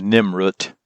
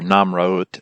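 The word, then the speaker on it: Nemrut: This is at the top of, or near the top of the summit of Mount Nimrod, or Namraut, if you want to pronounce it correctly, from ancient Akkadian.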